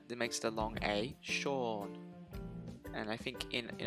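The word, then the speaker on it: Seán: think this is pronounced scene um but it's not it's pronounced to sean because in irish we have this this character with the little dot above it little accent mark we call it a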